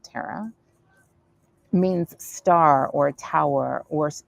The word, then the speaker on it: Tara: names right my name tara or tara others would say i pronounce it tara means star or tower